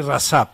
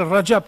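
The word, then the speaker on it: Recep: aussi au départ on disait Rajab mais maintenant on dit rassab rassaban de hordacan luimême une fois j'ai entendu il n'était pas content il disait c'est quoi ces gens-là qui ne savent même pas prononcer mon nom et il me donne des ordres il prononcer mon nom et ils vont me donner des ordres moi je m'appelle Rajab tayb Ardan parce que Rajab c'est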